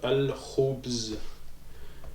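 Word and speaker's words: الخبز: Donc ça veut dire que le al, on va le prononcer. Ok. Donc ça, ici, comment on va prononcer? Donc on va dire al-khubz. Al-khubz. Ok, c'est comme s'il y avait un sukun ici. En fait, il y a un sukun ici. Donc al-khubz.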